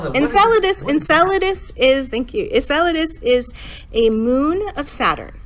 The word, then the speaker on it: Enceladus: mentioned something about five minutes ago in solid Essence in solidus did I I'm saying it wrong what is